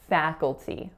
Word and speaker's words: faculty: at the college so in faculty three syllables fat with that tense a sound then cook a dark L so coal and then T with a tense e at the end faculty so our next word